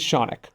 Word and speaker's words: Shaunic: My name is Shaunic, rhymes with Sonic, and I've been a plaintiff litigator for almost 10 years.